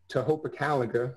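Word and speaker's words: Tohopekaliga: the presentations and this is ace yeast Lake to Hopa calendar that's actually the correct pronunciation so this is an example for my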